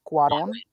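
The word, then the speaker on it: Cuarón: Alfonso Quaron. Alfonso Karon. Karon. Quaron. It's a cool. It's a c u a r o n. Quaron. All right, I got you.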